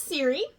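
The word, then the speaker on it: Siiri: So, first one is Siri. It's spelled S-I-I-R-I.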